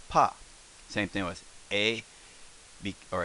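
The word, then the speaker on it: ぱ: i'll come out here if we do the little circle there we call the plosive the hobby the ha becomes pah same thing with a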